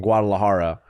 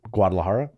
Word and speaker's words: Guadalajara: So when we went to Corner Heinrich in Guadalajara, Say it better though. Guadalajara.